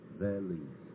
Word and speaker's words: Velizh: Yeah, it is spelled V-E-L-I-Z, Velizh.